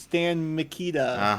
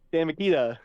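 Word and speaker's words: Stan Mikita: The other player was Stan Makita. Oh, I've heard. Yes. Yes. Not spelled like the tools, but spelled somewhat very closely.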